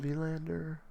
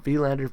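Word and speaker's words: Willander: Um, let me just Tom Lander. And now that we actually have his name pronunciation, I can practice it. Tom Vlander. V.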